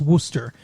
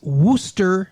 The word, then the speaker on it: Worcester: okay even though it's spelled like warchester it's pronounced wooster so that sauce is wooster shire sauce thank you uh dr phillips you